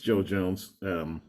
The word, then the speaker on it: Joe Jones: As Doug said, it rhymes with Mo Drones. It's Joe Jones.